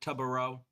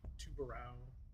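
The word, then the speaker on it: Tubarão: I meant Tubaro. To be fair, Tubaro. nobody knows how to pronounce the name right now. Yeah. Tubaro. I've heard like Tubarao, Tubarao.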